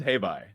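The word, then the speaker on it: Hei Bai: don't remember this name of this how to pronounce this spirit here. This is This is Habby. Habby. Okay, thank you. Habai, spirit of balance.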